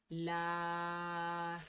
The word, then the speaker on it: Larras: El mantra se pronuncia de la siguiente manera. Larras.